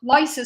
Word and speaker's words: LISA: It's also the thing with the LISA spacecraft that some people say LISA and some people say Lisa.